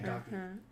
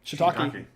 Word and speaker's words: shiitake: Shiitake. Yep, that's good. What do you say? Shiitake. Oh, yeah. Okay. A 4-syllable word with Shiitake.